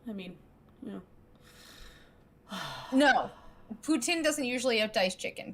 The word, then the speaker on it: poutine: can't believe you say poutine it's putin because uh there's this there's exceptions to the rule but mostly the rule for all francaise words is you don't pronounce the last letter i always just do